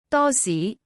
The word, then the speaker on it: 多士: The word for toast can sound a bit funny. It sounds as 多士.